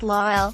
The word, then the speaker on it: La'el: It's pronounced La'el, it's Hebrew," explained La'el Collins.